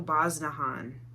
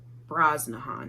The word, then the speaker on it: Brosnahan: and dead to me rachel i cannot ever say her name rachel bosnahan braznahan there's an r there desiree and the marvelous